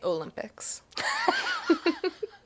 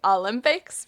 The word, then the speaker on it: Olympics: now, but something that I like that you do is you say Olympics. Like, most Americans say Olympics, but you pronounce the O.